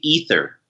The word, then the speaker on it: Aether Realm: uh okay so um in English it's supposed to be ether okay that's what I thought Chris Chris was saying something else in other language as though it's ether and uh you know